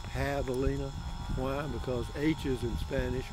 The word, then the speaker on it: javelina: a hog it's spelled j-a-v-e-l-i-n-a like javelina but it's pronounced pavlina why because h's in spanish are pronoun or jays in spanish are pronounced eight with an h sound so here we go